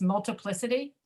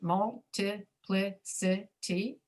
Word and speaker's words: multiplicity: Multiplicity. If you speak Spanish, you're likely to pronounce it multiplicity.